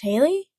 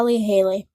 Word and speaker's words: Halley: That guy, isn't it pronounced Haley? Is it? I think that's a American ambassador's Eyes version of it. probably. So, it's Halie's call, I think. So, could be very wrong on that.